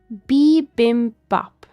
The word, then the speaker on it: bibimbap: How to pronounce bibimbap is what AI over here apparently tells me. B as in like beebs.